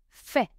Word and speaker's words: fait: Je fais tu fais roule tu fais il ont fait letter T fait is silent nous faisons nous faisons